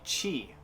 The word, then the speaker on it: chi: the next would be chi not tea pronounced like cheese then like i said